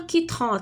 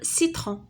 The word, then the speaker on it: citron: بحال مثلا d'autres exemples بحال مثلا بحال دابا سي avec i citron d'accord citron ما غاديش تقول كيترون تقول citron d'accord.